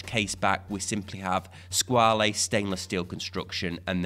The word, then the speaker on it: Squale: of people pronounce it squall a but it's actually based on the French word for shark where the French would pronounce this as squall although I have since